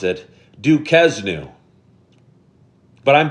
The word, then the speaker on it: Duquesne: Evan McNamara said, most pronounce it Duquesne. But I'm saying it right, Evan, right? Duquesne.